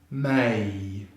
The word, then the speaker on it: May: So that's 1 syllable, so it should be May, May, May.